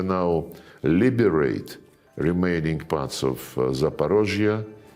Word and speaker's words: Zaporozhye: And when we now liberate remaining parts of Zaporozhye, this is the Russian way to pronounce it, and Cherson, the people,